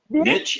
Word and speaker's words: niche: Is it niche or niche? Or niche. So I actually looked it up, and it can be either.